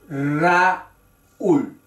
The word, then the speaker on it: Raúl: Río y Raúl parecen palabras simples de una sola sílaba, pero son palabras de dos sílabas. Río, Raúl.